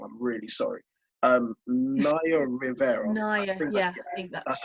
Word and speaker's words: Naya Rivera: So an ex-Glee star that goes by the name, if I pronounce it wrong, I'm really sorry. Naya Rivera.